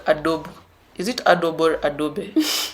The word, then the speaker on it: Adobe: It's Adobe. Yeah. Okay. I tend to have a problem with saying Adobe because the E doesn't have an accent. So I assume it is silent.